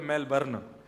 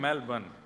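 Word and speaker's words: Melbourne: कहां रहते हैं मेलबर्न हमारे एक भैया बोले मेलबर्न जो मैल को जला दे मेलबर्न मैंने कहा नहीं मेलबर्न र जो है वो साइलेंट बोलो तो लेकिन हुआ क्या यहां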